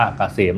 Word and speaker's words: เกษม: Sign นำ หน้า นะ K SCM อ่าน ว่า เกษม นะ ครับ สำหรับ ท่าน ที่ เดิน ทาง ด้วย